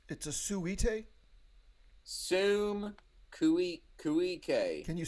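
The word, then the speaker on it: suum cuique: It comes from a Latin phrase called sum cuique. When you say Latin, you mean the ancient language? Yeah, I mean the dead language. And it says what it's a suite? Sum cuique.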